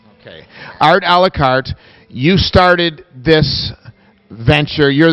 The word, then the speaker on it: Art A La Carte: Art A La Carte.